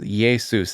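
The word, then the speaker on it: Iesus: a consonant because the Yesus is spelled I in the Latin alphabet is spelled I E S U S and it's pronounced Yesus.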